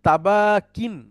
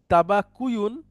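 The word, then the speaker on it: تَبَاكٍ: আর মাজদার হচ্ছে তাবাকিন। হ্যাঁ, মূলত তাবাক। শব্দটা ছিল তাবাকুয়ুন। তো তাবাকুয়ুন উচ্চারণটা কঠিন, এজন্য তাবাকিন হয়।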